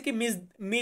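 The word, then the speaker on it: come: এরপর আছে কোমে। ইতালিয়ান শব্দ কোমে বা অনেকে আমরা এটাকে উচ্চারণ করি কমে।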